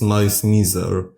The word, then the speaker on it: Malice Mizer: for my past mistakes the correct pronunciation of the band's name which is also used by the band members themselves is M Meer as it's a combination of wordss malice and misery during the mar era